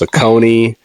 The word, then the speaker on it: Saucony: Like nobody was talking about Saucony. They were trying to correct me and say it's pronounced Saucony.